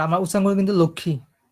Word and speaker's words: লক্ষ্মী: লিখতে হয় ক্ষিয় ক্ষমা ব্রহ্মা আচ্ছা লক্ষ্মী আর লক্ষ্মী আমরা এই উচ্চারণটা একটু দেখি লক্ষী আমরা কিন্তু উচ্চারণ করি লক্ষী লিখি কিন্তু লক্ষমী ঠিক আছে আর মানে হিন্দি ভাষায় উচ্চারণ করে লক্মী পুরা ভাঙ্গা ভাঙ্গা যে শব্দটা ক মদিনার স